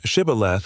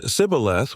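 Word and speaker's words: shibboleth: The Ephraomites said cibilth without the sheich sound revealing their identity.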